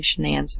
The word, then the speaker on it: Shanann: on to say that she was worried about pronouncing shenan's name wrong because her parents called her shannon